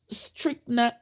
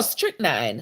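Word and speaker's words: strychnine: some research not pois pronounce is it strict n oh strict nine strict n strict nine okay strict nine she had discovered increased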